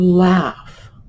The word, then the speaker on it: laugh: But when you look at the word, and you'll see it up here, notice the similarity to laugh.